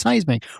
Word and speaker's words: Cysmic: So yeah, it's Seismic. We're here to talk about Seismic. We're here to talk about Seismic. Well, what is spelled Cysmic?